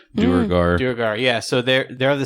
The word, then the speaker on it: duergar: lesson what's a drugar so drugaars or what how do you pronounce that drew guard i don't have the word in front of me though duergar yeah so they're they're